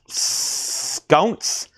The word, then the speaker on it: Sconce: You might have been bidding, and your last name is pronounced Sconce. Sconce, Brogan Sconce, S-C-O-N-C-E. I believe that's Sconce.